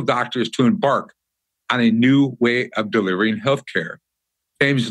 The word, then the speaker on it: KNEW: I am excited to have this talk with James today about his most recent project, a health cooperative called New Health. That's spelled with a K, K-E-N-W, which is poised to fight chronic disease through prevention and by using functional and integrative medicine.